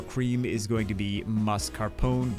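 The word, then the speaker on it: mascarpone: is going to be mus Carone which by the way is the correct way to say it since it's not an alien gangster like you guys love to pronounce it uh we're switching out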